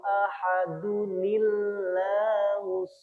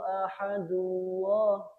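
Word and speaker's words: أحدٌ الله: Jadi qul huwallahu ahadunillahus somad. Ahadunillah nggih. Ahadunillah bukan qul huwallahu ahadullah. Tidak ada ahadullah, tapi ahadu lillah.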